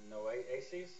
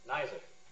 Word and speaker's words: Nizer: name, but it's Noaces. Did I butcher it? Okay. How do you pronounce it right so I can correct it? Nizer.